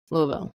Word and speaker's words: Louisville: I've been told that you say it like you have a bunch of marbles in your mouth Louisville so can can you